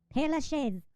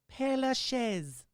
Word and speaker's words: Père Lachaise: Cimetière du Père Lachaise. I guarantee you that's wrong, so let's find out how to pronounce Here we go.